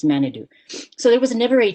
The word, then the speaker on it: manitou: him chief manitou um manitou is an ojibwe word from my language that means spirit it's just pronounced wrong it's manadu so there was never